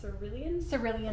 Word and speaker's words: Cerulean: gonna Swatch the light how did you pronounce that it's not it's Cerulean it's really in blue